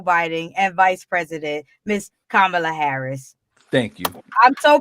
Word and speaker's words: Kamala: all that congratulations to joe biden and miss kamala harris president pamela harris kamala kamala don't be